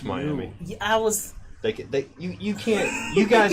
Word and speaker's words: Miami: Yeah, it's Miami. Yeah, I was. You can't. You guys cannot decide how vowels are pronounced. They have a finite structure. Yes, it's Miami.